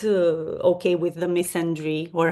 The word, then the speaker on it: misandry: I'm not okay with the misandry, or how do you pronounce it in English? I don't know, the equivalent of misogyny for men, Yes, which is misandry.